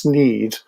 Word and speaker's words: snide: just saying that that in Yorkshire apparently snide is pronounced sneed, but maybe it varies a bit like scone and scone, perhaps.